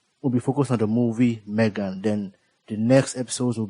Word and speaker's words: M3GAN: It's pronounced like the name you have in mind. M E G A N.